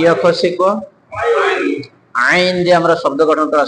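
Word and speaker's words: عين: দিতে হয় যদি চাপ না দিয়ে হামজার মত উচ্চারণ করি তাহলে অর্থ পাল্টে যেতে পারে এজন্য আমরা চাপ দিয়ে পড়বো সবাই বলেন আইন আইন আইন আইন আইন আইন আইনের মাখরাজ কোনটা অলকের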